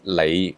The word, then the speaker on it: 里: Radical number 93, lei meaning a mile.